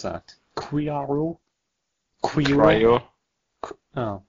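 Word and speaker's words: QRIO: Cryo. Oh, cryo. I suppose so. Well, yeah, you just stumped me there. But Criaro? No, it's cryo.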